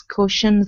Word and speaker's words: caution: good okay right here instead of Co Kion okay use an a sound so the Au is typically pronounced as an A okay instead of Kion it's C caution CAU okay very good and the